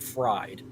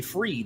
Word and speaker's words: Fried: Why is it spelled like fried? Why Because is Roy spelled like Wall? it's EI. It's I before E, except he does it EI. Why do we park on the driveway and drive on the parkway? Come on. I mean, let's. Well, good. Hey, now that I man. got his last name correct, I don't have to say it wrong tomorrow night. I'm gonna say Freed instead of Fried.